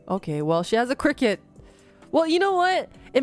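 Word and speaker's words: Cricut: on pleather fight really I didn't know that it's pronounced cricket oh my God oh my God I had no idea I thought it was cry cut this whole time I've never heard her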